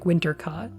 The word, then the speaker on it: Wintercott: That's how you spell it, but the way she says it, it rhymes with hot like Wintercott.